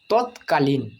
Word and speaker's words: তৎকালীন: তৎ পর র অর্থাৎ এর সম্পূর্ণ উচ্চারণ করলে উচ্চারণ হবে তৎপর তৎপর তৎকালীন তৎকালীন এখানে দেখো ত খন্ডের তৎ অর্থাৎ ত